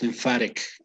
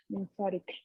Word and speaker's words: lymphatic: Notice the pronunciation of the T. It's not lymphatic. It's lymphatic. Lymphatic. Yes. In British English, it would be correct to say lymphatic because they have different pronunciations, right? In US English, it would be lymphatic.